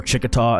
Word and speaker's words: Chiquita: punch and that was chiquita or chikata as they pronounced it so i'm really excited